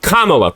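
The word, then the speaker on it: Kamala: Kamla, pronounce it correctly. Go. Camala Harris.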